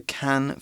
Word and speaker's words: Cannes: OK，那 be based in something 通常我们指的是像是生活啦、工作等等的主要地点被设于某处。所以课文提到就是一个有名的例子呢，我们就是要讲到坎城影展咯。那主要举办的地点就是在 Cannes， OK，注意它的 S 是不发音哦，它是法国东南部城市的坎城。I think S is usually silent in French as well. Yes, Yeah. especially when it's at the end of the sentence like that, like